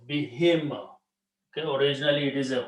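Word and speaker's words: بِهِم: But when you read them together, because of this B kasra sound, this ha is pronounced as a kasra also. Bihim.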